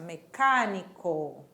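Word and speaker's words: mecánico: ele mecânico ele mecânico Olha a pronúncia mecânico E aí embaixo nós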